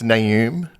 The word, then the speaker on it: Naoum: How do you pronounce your surname? Well, if you're listening, it's Naoum.